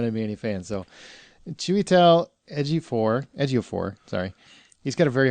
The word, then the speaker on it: Chiwetel Ejiofor: actor's name, Chiwetel Ejiofor, I had to work very, very hard to say his name correctly because I kept referring to him as Chipotle. And he's not a pepper.